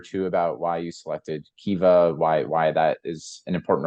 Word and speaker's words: Kiva: Kiva? Yeah. That's right. Would you like to just say a word or two about why you selected Kiva, why that is an important organization to you?